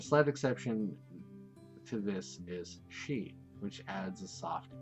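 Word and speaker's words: し: She. She. It's pronounced as sheep.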